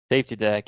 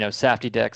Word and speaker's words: SafTDek: further Nathan how do you spell safety deck safety deck it is s f TDE K so it we get it pronounced in safy deck sometimes and some other things um safety deck